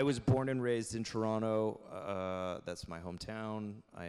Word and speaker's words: Toronto: I'm happy that you pronounce it like Toronto not Toronto you're basically a native um